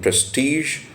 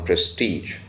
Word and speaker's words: prestige: Prestige and Community respectability Prestige has two pronunciations especially in American English so it has this pronunciation Prestige and also the other one Prestige so both the pronunciations are correct he would abound with